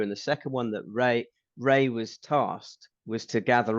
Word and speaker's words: Rea: Yes, Ray was his name. REA, it's spelt.